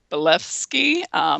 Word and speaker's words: Blavatsky: There seems to be a lot of proof with the Sumerians, and there was even what is her name, Madame Blavatsky. She was Yeah. Did I pronounce?